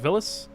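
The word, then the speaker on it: Villads: Once they board the ship and interact with Villis, they're on their way. The D is silent, by the way.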